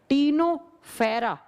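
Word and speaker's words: Ctenophora: टीनोफेरा लिखा जाता है सी से, प्रोनाउंस किया जाता है टी से, टीनोफेरा, फेरा।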